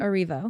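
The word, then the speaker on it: Erivo: Cynthia, how is it pronounced her last name? Arivo.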